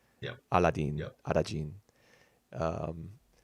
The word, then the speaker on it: Arajin: that's where Arajin's name comes from, is the Japanese pronunciation of Aladdin, Yep, Aladdin, yep. Arajin.